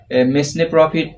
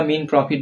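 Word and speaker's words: mesne profit: এর উচ্চারণ হবে না মেসনে প্রফিট এরকম উচ্চারণ হবে না এখানে এস এর উচ্চারণটা হবে না এস এর উচ্চারণ বাদ দিয়ে আমরা মেন বা মিন প্রফিট বলতে পারি বা অন্তর্বর্তীকালীন মুনাফাদ এর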